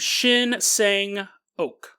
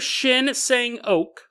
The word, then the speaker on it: Shin Sang-ok: In the 1960s, there was a South Korean director named Shin Sang-ok. I don't think it's pronounced okay. I don't think anyone actually has their last name okay. But director Shin Sang-ok, he was a prolific film director for South Korea.